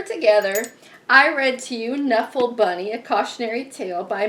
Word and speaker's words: Knuffle: So I've always pronounced that K silently. So anyway, I think it's Knuffle Bunny.